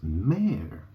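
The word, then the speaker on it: mère: The word for mother is mare. Yeah, that's a female horse in English, right? It's the same sound, isn't it?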